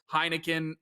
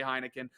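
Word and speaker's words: Heinicke: to t though defense hasn't been playing well heineken isn't that good i know it's heineke i say heineken i don't think i don't think i don't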